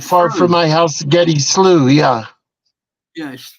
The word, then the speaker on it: Slough: you say that word SLO SL slow SL as far as slout yeah we would say that slooh that would be like you know like not far from my house Getty slooh yeah yeah like SP